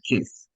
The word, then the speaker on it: kiss: You see the difference when I say my car keys? It's not the same Uh-huh. as to say kiss, right? There's a Mhm. difference.